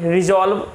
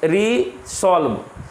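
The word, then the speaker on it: resolve: Next देखिए लिखा हुआ 12 में रिजॉल्व, आर ई एस ओ एल वी ई, रिजॉल्व, रिजॉल्व का मतलब होता है दृढ़ निश्चय करना। अब देखो इसको बहुत सारे पढ़ते होंगे रिसॉल्व, आपकी पढ़ना है, आपको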